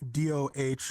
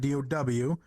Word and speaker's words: do: It's do as in like DOH, like do. It's not do. It's not DOW or like cookie dough, right? It's DOH.